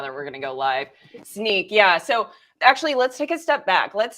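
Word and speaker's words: Snyk: let's talk about did I say it right snike right it's Nike it's it's it's snake oh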